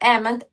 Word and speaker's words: Ament: Jared Ament, did I say it correctly?